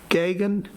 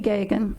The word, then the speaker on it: Gagan: Next speaker signed up is Gagan. Did I pronounce it correct? I'm batting 100 with you. If you'd state your name and address for the record. Yeah, my name is Gagan, and my address is 14103 Greenview Drive, and